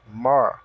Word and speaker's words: more: mesmo som da escrita somente a letrinha e que não é pronunciável e enrola a língua no R então mais more mais café more cof